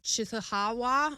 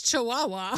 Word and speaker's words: Chihuahua: city which I'm going to butcher right now chawa I should look that up look at how to pronounce this oh Chihuahua it's Chihuahua oh it's where the dogs come from yeah